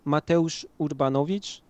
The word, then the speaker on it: Mateusz Urbanowicz: My name is Mateusz Urbanowicz, which is not pronounceable in most languages, I guess.